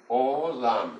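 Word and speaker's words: עולם: Olam é a pronúncia.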